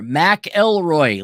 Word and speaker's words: McIlroy: McIlroy, like John McAfee.